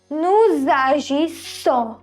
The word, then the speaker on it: nous agissons: So we have liaison in this. Liaison means sound Z.